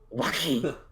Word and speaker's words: Joaquin: I was gonna use his actual name, but I actually don't know how to pronounce it. Joaquin.